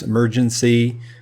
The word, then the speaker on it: EmergeNYC: For EmergeNYC or EmergeNYC, because that's the way it's spelled or looks, but it's EmergeNYC from Flip Switch Games.